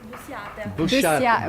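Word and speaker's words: busiata: No, could you pronounce it for me? Busca. Busca. Busciata.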